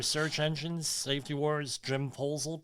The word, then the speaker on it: Poesl: Safety Wars, Jim Poesel, Poesl. Not the other way, please. Easy to remember, all right? Poesl, but how do you say it? My favorite word is proposal.